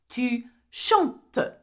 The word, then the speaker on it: chantes: Tu chantes. I-S. Though there is an S, we do not pronounce the S at the end.